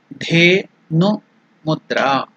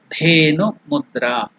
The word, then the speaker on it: Dhenu Mudra: The pronunciation is Da, Dha.